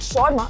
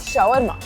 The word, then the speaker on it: shawarma: Did you know that Dubai's most popular dish, shawarma, is not even from Dubai? And there are about 100,000 shawarma sold every single day. And around 341,000 people mispronounce it and call it shorma instead of shawarma.